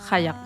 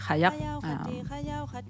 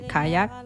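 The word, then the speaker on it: qajaq: Kayak is the proper way to say kayak. You call it kayak, but it's kayak.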